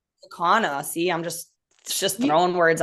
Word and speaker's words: Kaukauna: Kakana. Kaukauna.